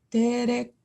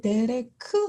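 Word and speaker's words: דֶּרֶךְ: 해당하는 것이 아니기 때문에 어 한국어 받침으로 데렉 하고 읽지 않고 데레크 하고 끝에 있는 음가를 살려 주셔서 읽어야 합니다 이것은 음절로 따지자면 두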